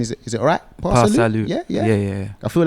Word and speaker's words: PA Salieu: PA Salieu. Yeah. I feel like the pronunciation is very important.